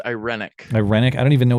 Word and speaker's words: irenic: promoting peace aiming yeah you're right irenic and the pronunciation is correct too you're very learned well